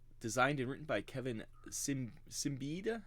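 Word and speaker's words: Siembieda: And yeah, so it's another system designed and written by Kevin Simbida. How do you ever say his name, Pat? Do you know? Ciambieda.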